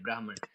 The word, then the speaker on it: ब्रह्म: सबकी स्पेलिंग आपको सेम लगेगी इंग्लिश में। लेकिन ये ब्रह्म है। ब्रह्म है। मैं सही से नहीं लिख पाऊं। तो शब्द सुनिए मेरा। ब्रह्म है। एक होता है ब्रह्मा और एक होता है ब्राह्मण।